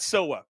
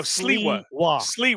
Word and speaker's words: Sliwa: this play out because I said something about Silva or Sliwa. I can't fucking say his name. Silva. I think right? No, Sliwa.